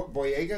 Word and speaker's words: Boyega: Boyega, is that how you say it?